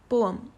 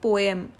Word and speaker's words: poem: कैसे हम इसे बोलते हैं? पोएम. पोएम is totally wrong. The correct pronunciation is poem.